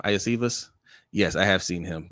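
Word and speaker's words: Iosivas: Iacevas?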